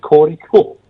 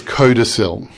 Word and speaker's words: codicil: I thought it was cortical. It's codicil.